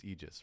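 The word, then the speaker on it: Aegis: See, I'm pronouncing it Eegis. You were right. It's not Agus, it's Eegis, right?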